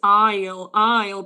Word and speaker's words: aisle: Okay, guys, so it is aisle, pero ven cómo se escribe, okay.